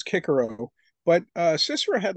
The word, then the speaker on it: Cicero: So even someone like Cicero, I guess if you pronounce Latin correctly, supposedly now they're saying it's Cicero, but Cicero had like a thousand slaves.